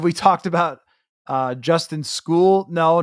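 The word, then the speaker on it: Skule: go that's the Justin School and it is pronounced school by the way but that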